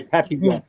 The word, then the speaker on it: Papillon: I was going to say, if you're doing it the French way, Papillon.